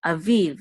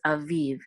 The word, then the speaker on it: aviv: together we'll say viv, aviv, and this is the etnachta, which is a trope mark in the last syllable, so it's aviv.